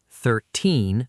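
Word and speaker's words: thirteen: Second, we learned that teen numbers have the stress at the end and tie numbers have the stress at the start. 13 versus 30.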